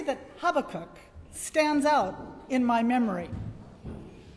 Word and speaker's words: Habakkuk: you spell h a i how do you pronounce h a b a double k uk habakkuk well when i was a student at san